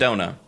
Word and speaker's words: Echidna: And then 5 hours later in the stream, when hearing it again, someone else said, that's actually the Japanese pronunciation of Echidna. Oh. It's Echidna.